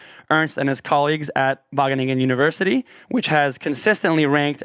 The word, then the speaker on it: Wageningen: american listeners it's written out wageningen but it's pronounced wageningen which i had difficulty with at first i